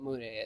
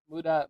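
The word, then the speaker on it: Mudae: means- Muda. Mude. M-U-D-A. It is. Not M-U-D-A-E. Who says that you say those It's spelled differently? with an E. You do. There's an E on it. Yeah, Mude, not Muda.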